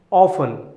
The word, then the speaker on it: often: Often. Often. Often. Here letter T is silent.